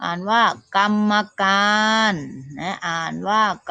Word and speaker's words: กรรมการ: อ่าน นะ คะ วัน ที่ 1 อ่าน ว่า กรรมการ แม่ อ่าน ว่า กรรมการ ธรรมดา อ่าน ว่า ธรรมดา วัน คณะ คดี อ่าน